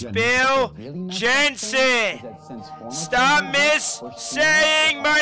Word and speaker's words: Jensen: Is that to get in, you have to lie naked in a coffin and masturbate Gensler. In front of the old Bill Golf Gensler. It's Bill Jensen.